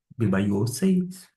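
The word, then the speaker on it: βεβαίωσις: Vamos pronunciar pausadamente. Be by se be by se e significa estabelecer.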